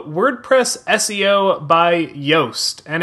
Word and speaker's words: Yoast: called WordPress SEO by yoast and it's I believe pronounced like toast but spelled with a Y so WordPress SEO by